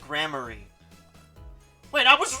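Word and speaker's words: Gramarye: don't tell me you don't know about troop grammar eye trip grammary oh it's pronounced grammary wait i was right then huh no but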